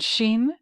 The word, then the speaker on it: shin: the 21st letter of the Hebrew alphabet and Sheen spelled s-h-i-n uh what does it mean it